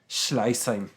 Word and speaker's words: Schleißheim: Schleißheim? Schleißheim.